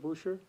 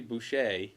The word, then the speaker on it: Boucher: i say it right butcher yeah yeah because some people say boucher it really should be boucher which is the the french pronunciation but we've sort of